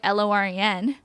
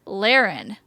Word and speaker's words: Lauren: Anyways, it was like, basically this girl's called herself her whole life Lauren, like Loren, that pronunciation. But then she moved somewhere and everyone calls her Laren. Like Lau sounds like Lao, not low.